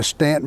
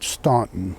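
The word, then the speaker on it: Staunton: You know, don't go don't go to don't go to Stanton, Virginia, and call it Stuntton. They they won't like it.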